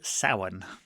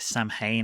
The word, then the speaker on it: Samhain: And on the chalkboard, you see the word Samhain. Now, after Loomis pronounces it Samhain a couple of times and explains what it